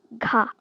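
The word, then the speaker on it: ㄱ: Over here, we have at the start, ka. Ka. It's like a G sound.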